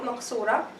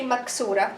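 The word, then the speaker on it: مقصورة: But for now, all this about the Alif Maqsurah, and don't say Maksurah, it is Qaf, Maqsurah.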